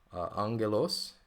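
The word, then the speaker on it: ἄγγελος: nouns like um let me find a noun Angelos uh note that first GMA I'm pronouncing like an N we talked about that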